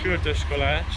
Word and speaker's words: Kürtőskalács: What's the right pronunciation? Yeah, Kürtőskalács.